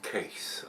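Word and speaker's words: Kees: comes from broward case spelled keys double e k-e-k-e but marcel and brandy is telling me that it is pronounced case over there casc so uh and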